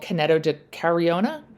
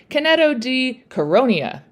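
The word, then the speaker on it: Canneto di Caronia: at that time in this Italian village called Caneto di Cariona. Nope. I'm not even going to bother to erase that, and I'll just try it again, and you'll all live with my mispronunciation. Caneto di Caronia.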